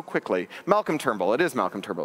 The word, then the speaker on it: Turnbull: he went so quickly Malcolm turble it is Malcolm turble it's right there on the slide I I